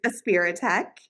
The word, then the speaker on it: Aspiritech: I'm assuming you're the founder of Aspiritech. And did I say it right? You are saying it right. It is a spirit tech. Okay. Uh, A for autism, spirit, and tech all flow well together.